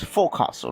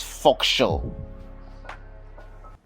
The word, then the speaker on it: forecastle: For the last one, you might think this one is forecastle, right? Because you just combine fore and castle, but no, it's forecastle.